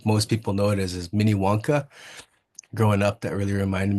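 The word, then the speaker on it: Minnewanka: Mini Wonka is the proper way to say it. And I think the way most people know it is Mini Wonka.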